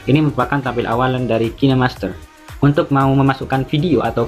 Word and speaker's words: KineMaster: kinemaster hingga cah bacanya itu kinemaster bukan kinmaster atau kain Master kinemaster yang saya gunakan di sini